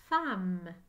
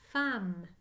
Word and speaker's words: femme: dans le mot femme j'entends fin mai on écrit la lettre e c'est spécial femmes s'écrit